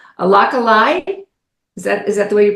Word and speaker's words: Alaka'i: Alaka'i, is that the way you pronounce it? Alaka'i. Alaka'i Leadership Group, and I'm going to let you tell us about that, where that name comes from.